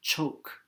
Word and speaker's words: chok: could hold its shape shark from chok pronounced choke from the maya in